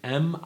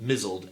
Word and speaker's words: misled: The linguist who coined the term measle named it for the mispronunciation of the word M-I-S-L-E-D as misled. Okay? As in mizzled, M-I-Z-Z-L-E-D. Instead of misled.